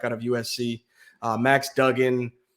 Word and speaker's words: Duggan: winning it quarterback out of USC uh Max Duggan Dugan if you pronounce it the right way uh TCU quarterback